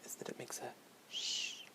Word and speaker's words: H: the English or sorry the French word or pronunciation is Ash and a good way to remember that it is silent is that it makes a shh it's at the end Ash so it's like